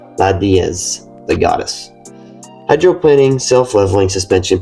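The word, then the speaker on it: la Déesse: The Citroen DS or as the French pronounced it, Lad Diaz, the goddess.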